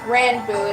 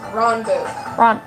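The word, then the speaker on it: Ranboo: No, it's not Ranbu, it's Ronbu. I'm sorry, I'm used to people pronouncing it differently.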